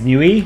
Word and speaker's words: Niue: It's a self-governing island country in free association with New Zealand. 1,600 people live on it. Ugh, come on, that's not a real thing. F tier. You pronounce it as new?